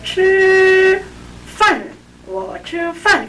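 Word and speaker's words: 吃饭: 我吃饭 일성은 좀 높은 데서 길게 나가고 사성은 폭포에서 물 떨어지듯이 일성과 사성의 시작점은 같다 그랬잖아요. 근데 보세요. 吃饭 그러면 吃饭 나는 밥을 먹는다거든요.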